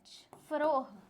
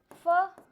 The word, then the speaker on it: Pharaoh: PHARAOH, फरोह। क्या बोलते हैं? फरोह, ऐसा बोलते हैं इसको।